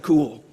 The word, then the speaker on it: Kuhl: audience like you and being introduced as dr cool and she's dr cool because her last name is spelled kuhl but she's also very